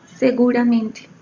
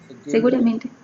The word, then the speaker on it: Seguramente: Seguramente, am I pronouncing correct? Yes, it's right. Seguramente. Seguramente.